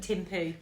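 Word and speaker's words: Thimphu: Timoo.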